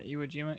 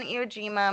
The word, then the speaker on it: Iwo Jima: Yeah, Iwo Jima.